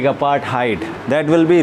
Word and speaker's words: apartheid: Don't spell it और pronunciate it like apartheid. That will be wrong. This H will be silent here my dear students, and the pronunciation, सही उच्चारण जो होगा उसका apartheid, not apartheid or apartheid.